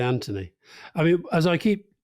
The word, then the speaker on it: Anthony: the mooch you both pronounce his first name with a hard T whereas he pronounced it with a soft th any reasons why PS loved the show actually I disagree I say Anthony do you yeah I